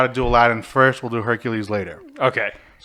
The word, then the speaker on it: Aladdin: And for everyone out there, it's pronounced Aladdin.